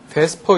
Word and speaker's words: VSEPR: 그것은 베스퍼 이론이라고 얘기합니다. 베스퍼 이론. 발음은 VSEPR인데 그냥 베스퍼라고 읽어요. 그렇게 읽는데요. 네. E하고 P하고 바꿔서 베스퍼 이론.